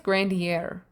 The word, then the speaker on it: Grandier: priest grantier grandier grant i think it's grandiere i think the r is actually pronounced but my brain doesn't want me to do that priest grandier is in